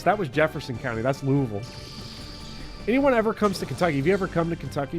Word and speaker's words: Louisville: for like it's not Louisville no it's spelled Lewisville it is pronounced by a Kentuckian Louisville wow now does that